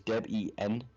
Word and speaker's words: Debian: The official official pronunciation of Debian is Deb-E-N. The name comes from the names of the creator of Debian, Ian Murdoch, and his wife, Deborah.